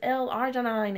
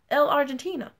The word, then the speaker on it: L-arginine: Nobody cares that this has L-arginine in it. They don't even know what that is. Half the people in my company don't even know what that is. They're walking around pronouncing it L-Argentina.